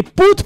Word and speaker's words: Put: Monsieur Put, où on me dit il faut prononcer Put parce que c'est un flamand.